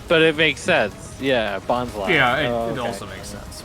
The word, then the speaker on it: Bonsly: Bonsly. Because Yeah. it's like bonsai. Yeah. How'd you think it was? Yeah. Bonsley.